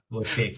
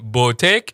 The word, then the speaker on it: boutique: Now, if we wanted to spell it in the correct way it's pronounced, it would look something like boot, as in the shoe, and then you'd have a teak.